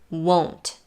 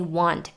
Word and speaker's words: won't: that might be puzzling won't won is a reduction of will not it's pronounced with an o diphthong and usually with a stop t at the end for the people who